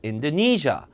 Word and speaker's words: Indonesia: 네이시아가 아니라 인도네시아 아예 못 알아들어요. Indonesia, Indonesia.